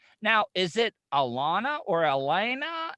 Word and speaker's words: Alaina: is it alana or elena like i because i don't i never want to butcher people's names sure so um my first name is pronounced elena elena okay so it's not alana it's elena yeah hard eye on